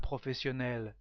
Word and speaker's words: professionnelle: Professionnel with exactly the same pronunciation but two le is the feminine form. So a professional man is un homme professionnel. Une femme professionnelle, not very difficult to understand what is it.